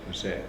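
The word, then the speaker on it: Osijek: Uh but we went to where today how do you pronounce this? We're not sure. OIC. Can't even spell. O S I J E K. That's right. OAIC. OIC. That sounds good.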